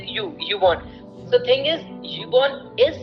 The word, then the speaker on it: Ubon: So actually, thing is, Ubon, we pronounce it like YouTube, so we pronounce it like Ubon.